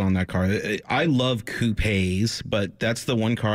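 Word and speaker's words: coupé: Most people tend to like convertibles a little more, but I'm saying it wrong. It's coupe, and I'm sure Ian Callum would whack me around the back of the head if he heard me say coupe.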